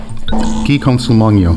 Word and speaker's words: Guy Consolmagno: Guy Consolmagno.